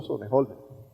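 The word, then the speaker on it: Sonnenholzner: Lo conozco, y por eso, como lo conozco años, pronuncio bien su apellido. Otto Sonnenholder. Es un joven, es inteligente, es preparado.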